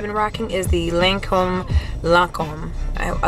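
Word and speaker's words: Lancôme: end Foundation I've been rocking is the lancom lancom I like saying it correctly lancom tent tent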